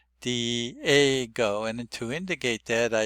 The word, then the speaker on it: Diego: say that word is Diego. Dgo. Now I should have pointed out that the stress is on the a the second vowel digo.